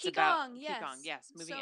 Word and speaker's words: Qigong: You were talking about the thing that I forgot how to pronounce. It's Qigong, yes.